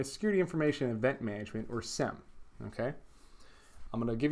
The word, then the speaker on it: SIEM: Just say SIEM. It's much easier. Just one syllable, SIEM. Okay, so SIEM is essentially a method of unifying audit logs.